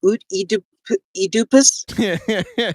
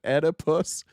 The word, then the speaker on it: Oedipus: Somebody said Oedipus. It's oh, yeah. Oedipus. Yeah, I think that's right. In the US, in the UK, it's Oedipus.